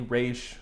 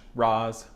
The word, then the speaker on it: Ra's al Ghul: And I know people pronounce that name differently, Raish, Roz, Ross. I'm going with Ra's al Ghul.